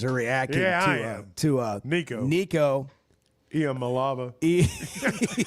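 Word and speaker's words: Iamaleava: Iamalava. Say it like Imalayeva. Iamalava. Yeah, there you go.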